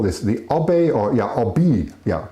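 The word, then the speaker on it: Obey: The Obi, or yeah, Obi, yeah, pronounced Obi River. Yeah, it's pronounced Obi River, which is part of the lake.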